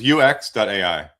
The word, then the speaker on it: youx.ai: It's youx.ai and that's spelled y o u e x.ai.